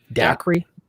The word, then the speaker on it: Dacre: So this dude is Darcy. Is that how you'd say his name? Darcy Stoker. Dacre Stoker.